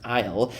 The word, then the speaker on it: aisle: Isle or like I heard someone pronounce it isle, but in in reality is pronounced isle is like the narrow passage between the rows of several things.